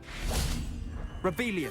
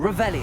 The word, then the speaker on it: Revelio: Rebellion. Saying it wrong. Revelio.